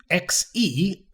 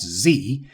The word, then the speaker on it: Xe: they changed their name to XE, which I think they pronounce Z, and then after that they changed it again to U.S.